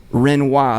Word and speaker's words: Renois: We're gonna talk to the one and only Chris Renois. Is that the you pronunciation?